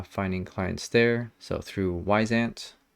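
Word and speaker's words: Wyzant: clients there so through wise ant which is spelled a little strangely um anyways it's supposed to be like a wise ant i don't know why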